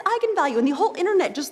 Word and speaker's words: eigenvalue: the director said yes that is how you pronounce it so I went out there and said that's right egon value and then apparently the internet went nuts when it came out because apparently it's pronounced eigenvalue that's how you're supposed to say I'm the